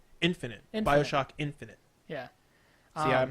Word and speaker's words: BioShock Infinite: BioShock Infinity. Infinite? I didn't play Infinity. I played Is it Infinity, though? Because it's Infinite. It doesn't end in a Y. Infinite. BioShock Infinite.